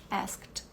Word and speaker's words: asked: coisa do look né termina em k então a gente tira esse e na pronúncia e vai direto pro D que fica bem forte asked as to ask tem